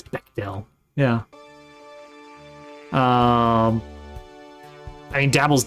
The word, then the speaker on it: Bechdel: Apparently, according to the pronunciation key, it's Bechdel.